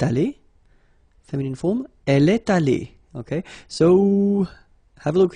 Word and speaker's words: allée: Phonetically, it doesn't exist. You don't pronounce it, so you get elle est allée, and then for the masculine form, il est allé. So aller is pronounced the same way.